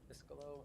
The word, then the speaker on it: Iscalo: Even reading it now, I messed up. Iscalo, Iscalo, I've been saying it wrong. I-S-K-A-L-O, Iscalo.